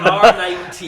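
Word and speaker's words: R nineT: You always say 9RT. it wrong. So it's the R9T.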